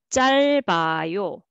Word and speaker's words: 짧아요: And this one, first for the first syllable, and this one carry over. 짧아요, 짧아요.